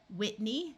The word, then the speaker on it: Whitney: in the name Riley Whitney note the silent h in most of the US Casey AI says a